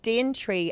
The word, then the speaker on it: Daventry: mentioned the Red Nosed innkeeper of Dean tree as it used to be pronounced but we haven't found